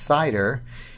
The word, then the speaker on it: CIDR: you with that address cidr pronounced cider is referred to as